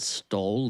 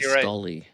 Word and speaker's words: Stoli: Do you call it You don't You don't pronounce it stole, do you? Cuz we stole. Yeah. Oh, we call Stoley.